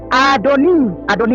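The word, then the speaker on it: אדוני: Fatomer Elaim Haisha Adoni itu artinya tuanku, manusia, bukan Adonai bacanya.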